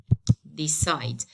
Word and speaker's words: decide: As the rule says, I have to stress the second, okay, or the last syllable of this two-syllable verb.